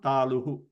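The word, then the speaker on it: तालु: I chu yashanam taluhu, or talu, not taluhu, talu.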